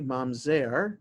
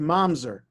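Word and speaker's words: mamzer: lo bikahal adonai so i pronounced it in the modern hebrew way mom zer but if i pronounced it in the yiddish way it would be momser okay it's the same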